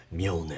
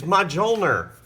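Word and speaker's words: Mjölnir: And here his hammer, Mjolnir.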